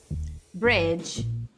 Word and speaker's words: bridge: Bridge, bridge, que é ponte, tá? Então, nessas palavras, o D não é pronunciado.